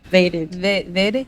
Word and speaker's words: MotaVated: the Beast podcast m vaded in the house hey let's go how do I say it m m vaded vaded like motivated motivated vaded v a t e d vaded okay oh make